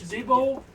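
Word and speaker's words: Dibbo: My name is Debo, the Debo Grapefruit, sir. Alright, can you spell that?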